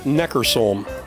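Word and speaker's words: Neckarsulm: Neckersulm.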